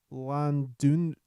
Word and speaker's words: Llandudno: Llandudno in northern Wales Nailed it.